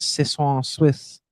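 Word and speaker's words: soixante-six: And they in French, it's pronounced Sis Swiss.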